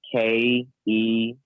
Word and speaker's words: Kennyonce: So it's KENNYONCE, like Beyonce, but Kennyonce.